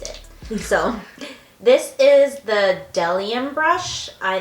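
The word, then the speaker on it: Bdellium: You always said Bedelium. No, I'll do it, and then they would always correct me and say, no, it's the B silent Delium brush, and it's the 964.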